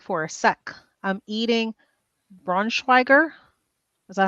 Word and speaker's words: Braunschweiger: I'm eating Braunschweiger. Is that how you pronounce it?